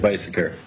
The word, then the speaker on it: Beiseker: Yeah, you pronounced it right, Beiseker.